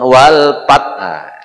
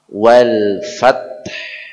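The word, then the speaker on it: والفتح: Jadi wal fa bukan wal pat. Idza jaa nasrullahi wal pat wal fath. Ya. Baik, seperti itu. Saya contohkan ya. Setelah kita baca sama-sama ya. Idza jaa nasrullahi wal fath.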